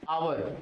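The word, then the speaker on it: hour: अब देख लेते हैं यहां पर जैसे आवर इसको हम लोग पढ़ते क्या है आवर है साइलेंट को छोड़ दो हम लोग प्रोनाउंस देखते हैं कि इसका आपको कहता है टीचर क्या कहेगा कि ये साइलेंट है ओ है इसलिए ए लगाते है नहीं जी ऐसा नहीं सोचना है आपको सोचना है कि इसका साउंड कैसा निकल रहा है आवर अ का साउंड निकल रहा है मतलब ए का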